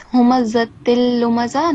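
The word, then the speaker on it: هُمَزَةٍ لُمَزَةٍ: In terms of pronunciation, in the second verse here, it's humazatil lumaza, not humazatil. So on top of za, we have fatha. Yeah. Not vertical fatha.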